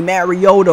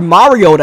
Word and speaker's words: Mariota: not going to happen third down and 20 Mariota rolling out or Mariota I should say that's the correct way to pronounce his name either way that's not the